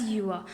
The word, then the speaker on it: Gjøa: At some places it is pronounced as Gjøa, and in the Norwegian accent it is pronounced as Gjøa.